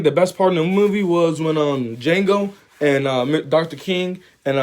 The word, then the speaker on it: Django: what's your name my name is django spell it d j a n g o the d is silent and that is from the film django unchained and i dropped in theaters in 2012.